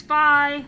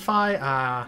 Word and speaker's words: Fi: Is it Fi? Yes, it's the Romanization is Fai. Basically, the original Hyrule Warriors did confirm that the pronunciation is Fi.